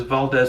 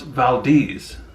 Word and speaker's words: Valdez: the most famous is valdez alaska mispronounced valdez by locals notorious for the oil